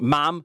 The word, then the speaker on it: mam: It's pronounced mam, not mum, and always respect the tide times on the Holy Island Causeway.